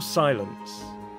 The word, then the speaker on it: silence: In the word silence, the stress is on the first syllable. Break your silence.